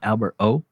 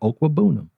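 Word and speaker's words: Okwuegbunam: It's not Albert O. It's Albert Okwebunam.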